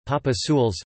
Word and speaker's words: Papadzules: Papadzules, Spanish pronunciation, Papazules, Mexican Spanish, from Mayan, Papadzules, is a traditional dish from the Yucatan Peninsula resembling enchiladas.